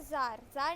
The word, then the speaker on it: Tsar: और जब हम राजा को वहाँ पे ज़ार कहेंगे, TSAR लिखा है, तो आप लोग बोलोगे तज़ार क्यों नहीं कहेंगे, लेकिन कहना इसका ज़ार ही है, यही प्रोनाउंस होगा इसका करेक्ट फॉर्म में।